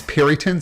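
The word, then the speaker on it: Peryton: Like I wasn't sure how to pronounce Periton, so I clicked on it.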